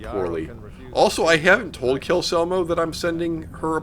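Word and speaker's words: Calcelmo: So anyway, Kelselmo, you don't know this. First of all, your name is pronounced Kelselmo, definitely, and not Kelselmo, because that's what Colleen thinks the pronunciation is.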